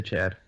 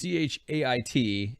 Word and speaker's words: Chait: Let's just say Chad. It's not. It's Chait.